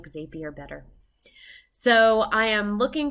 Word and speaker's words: Zapier: to be using zapier and i know it's pronounced zapier and i'm going to say zaps not zapes but i just like zapier better so i am looking for any time